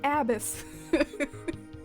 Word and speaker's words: abyss: Oh, okay, so abyss does rhyme with a miss. I was like, those words don't rhyme. It's abyss.